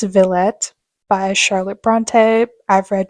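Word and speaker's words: Villette: then I also have I think this is pronounced Vette by Charlotte Bronte I've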